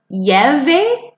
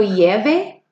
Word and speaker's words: llueve: Let's take a look at when you say cuando llueve. Can you say cuando llueve? Cuando llueve. See, those two L's make the Y sound.